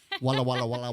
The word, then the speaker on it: Walla Walla: there well eric did i say it right walawa there we go walla walla voila there you go we'll have fun and